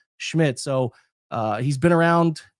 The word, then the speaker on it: Szmyt: Andre Smith uh Schmidt is how it's pronounced. Even though it's spelled SZMYT, it's pronounced Schmidt.